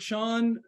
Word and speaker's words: Chan: I use the word Sean uh and I some of you might not know that that's the Chinese um pronunciation of uh of the there's an